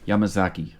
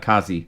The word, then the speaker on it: Yamazaki: 4 yeah I mean that's how I would pronounce it yamazaki yeah not Kazi Zaki had had that that little thing backwards there but yeah age